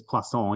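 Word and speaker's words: Poisson: is pronounced as yeah officially it's Plus on you don't say the N either because that's French you never say the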